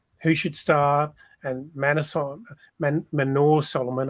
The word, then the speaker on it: Manor Solomon: should start and manason Manor Solomon I have to keep reminding myself that that is the correct pronouncing I'll be pronounce pronunciation of his name um but look our